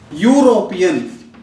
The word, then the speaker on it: European: For example, European, a European. Here you see the pronunciation, though it started with a vowel, E is a vowel. It started with a vowel and we used a article.